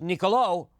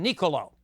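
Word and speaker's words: Niccolò: You've got an accent on the last O and that means it's Nicolo rather than Nicolo.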